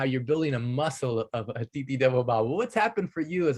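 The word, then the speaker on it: अतिथि देवो भव: is not Aditi Devo Bhava, it is Atiti Devo Bhava. Atiti Devo Bhava.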